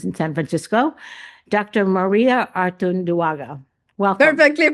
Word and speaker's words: Artunduaga: Maria Artunduaga. Welcome. Perfectly pronounced.